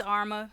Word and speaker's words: Arma: It's just Arma. It's just Arma.